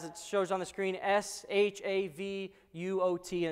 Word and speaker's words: Shavuot: It's spelled, as it shows on the screen, S-H-A-V-U-O-T, and it's pronounced Shavuot.